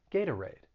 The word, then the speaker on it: Gatorade: market themselves but gatorade that t i'm gonna use a flat t and that second syllable i'm gonna use the schwa that uh sound gata raid gatorade and the same goes